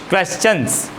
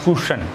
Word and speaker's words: question: questions, okay, you question, it is not cushion, है ना, question, it is right pronunciation, है ना, ध्यान रखना।